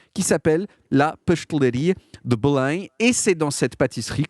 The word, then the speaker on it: Belém: partie de la ville, Belém, qu'on prononce en portugais Belém.